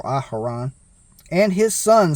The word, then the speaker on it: Aharon: Yahweh spoke to Moshe saying command Aaron or aharan that's how it's actually pronounced I believe in Hebrew aharan and his son saying